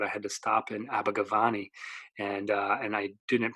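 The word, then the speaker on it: Abergavenny: telling the guy I need a ticket to abber gavy he just looked at me like what are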